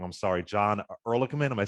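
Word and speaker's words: Ehrlichman: said uh I could be saying his last name wrong, I'm sorry, John Erlman. Am I saying it right? Yes. Erligman.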